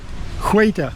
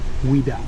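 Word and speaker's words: Ouidah: A lot of people use that sway, but we said wait. Hueta. Yeah. Hueta. Kingdom Huida. Hueta. And that's what mispronounced by Europeans and became to the name of the town, Huida.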